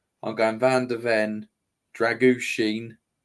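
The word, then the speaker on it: Drăgușin: I'm going Van der Ven, Dragushin. That's apparently how you say his name, by the way. Dragushin. Right. Yeah. Just remember Sheen, the Polish stuff. That's what, or Michael Sheen.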